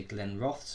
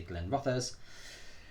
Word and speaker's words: Glenrothes: pronounce it different ways some people say glenn roths which is how i like to say it others say glenn rothers correct me please tell